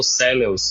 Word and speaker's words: Celeus: Inclusive, tu falaste aí sobre a pronúncia, eu passei a vida toda falando celeus, mas a gente gravou um episódio com Fernando Pacheco e ele falou cels. E aí eu desde então tentei me policiar para falar cellus, mas até hoje eu falo celeus.